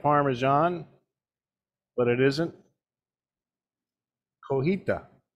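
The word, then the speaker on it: cotija: parmesan but it isn't coheita the j is silent chef yes silent now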